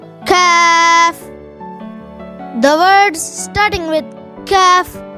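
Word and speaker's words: كاف: The letter Kaf has a thin sound and different from the letter Qaf, which has a heavy sound.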